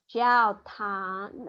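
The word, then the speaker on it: 教堂: Now, the Tang is not, it doesn't have a G. Jiao Tang. It has a G, but you don't pronounce it like Tang. It's not like speaking Calabar. Jiao Tang. Okay, you don't Jiao Tang. Okay, there is a G in the pinyin, but it's not pronounced with so much emphasis like that.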